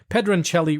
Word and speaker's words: Pedroncelli: It might be Pedroncelli, but because it's Italian, we're going to pronounce it correctly. Pedroncelli Rosé, and it comes from Sonoma, California, and it's made from Zinfandel.